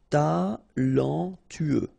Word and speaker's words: talentueux: Talentueux. Final X not pronounced. Then you get this U together. Then TU. Tueux. Talentueux. Talentueux. Terrible.